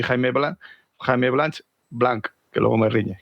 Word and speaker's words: Blanch: Alonso Pulido y Jaime Blanch, que luego me riñe, que no se pronuncia la H.